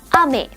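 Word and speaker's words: 雨: Dan hujan dalam bahasa Jepang adalah ame.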